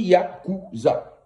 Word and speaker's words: Yakuza: On ne dit pas Yakuza, on dit Yakuza. Ça, c'est tonalité africaine. Yakuza. On ne dit pas U, mais on dit OU.